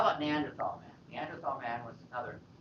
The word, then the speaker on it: Neanderthal: I guess it's pronounced Neanderthal because Tal is valley.